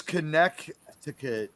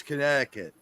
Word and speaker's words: Connecticut: By the way, You know- no American says Connecticut. It's Connecticut.